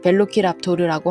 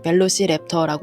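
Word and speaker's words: Velociraptor: 조그맣고 귀여운 공룡을 좋아합니다 라티로로는 벨로키랍토르라고 하고 영어권 발음으로는 멜로시랩터라고 하는데 줄여서 랩터라고 합니다 2m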